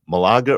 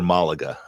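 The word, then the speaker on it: Málaga: This year it was it's either Malaga or Malaga. I've heard it pronounced both ways, but Malaga, Spain.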